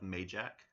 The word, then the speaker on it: Mayjack: The Ageless have Mayjack, spelled like May as in the month of May, and Jack as in the name Jack, the boy's name.